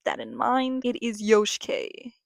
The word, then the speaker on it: Yoshike: under the same username, Yoshike. It is pronounced Yoshike like Yoshi. It is not Yosh like Josh. Please keep that in mind. It is Yoshike. Yoshike.